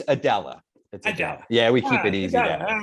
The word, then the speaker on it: Aidala: uh it's pronounced uh man oh it's pronounced Smythe no it's Adella yeah we keep it easy yeah well in